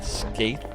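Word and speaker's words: Skeith: Like Skaith. Yeah, in what universe is S-K-E-I-T-H ever pronounced Skaith?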